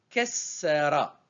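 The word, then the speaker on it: كسّر: Ke, Se, elle est accentuée, on la prononce double, Se, et en jaune, Ra. Et on obtient Kessera. Kessera. Donc je prononce deux fois le Se.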